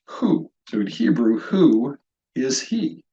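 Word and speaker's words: הוא: dividing markers needed this is the Hebrew word pronounced who in Hebrew who is he that's how you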